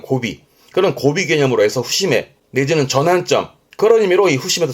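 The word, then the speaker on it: 節目: 그리고 뒤에다가 눈목 잡붙이면 발음은 후심해.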